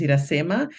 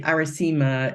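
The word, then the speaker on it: Iracema: name right so uh if I say my name is irasema so people say aresima they read and they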